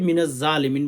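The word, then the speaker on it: مِنَ الظَّالِمِينَ: অনেকে মিনাজালিমিন বলে এটা ভুল উচ্চারণ। ভাই বোন মিনাজলিমিন আল্লাহ উচ্চারণ করবে হ্যা লা ইলাহা ইল্লা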